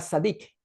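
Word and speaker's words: צדיק: En hebreo es la palabra sad pronunciada sadic, significa justo o legal.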